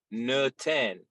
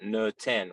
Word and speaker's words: noten: when it's the matzah, we call it noten, which is just the Bukharian pronunciation of noten. Noten. So there's like a really hard u in there.